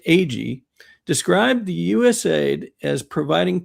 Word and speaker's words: Agee: Also, other former CIA person personnel like Victor Marchetti, John Marks, um and Philip It's pronounced Agee.